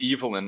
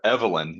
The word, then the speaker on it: Evelyn: his wife uh Evelyn um and it is pronounced Evelyn I learned by the way um we were